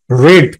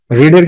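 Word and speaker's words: read: senior শিক্ষক তাহলে এখানে কি দেওয়া আছে রিড রিড পড়েছিলেন রিডের কিন্তু পাস্ট ফর্ম যা প্রেজেন্ট ফর্ম পাস্ট পার্টিসিপল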